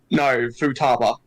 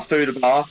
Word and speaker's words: Futaba: pronounce the b no that's actually how they pronounce it in the game are you serious yes no Futaba not like what you would actually go to a food a bath no it's not like that yeah that's basically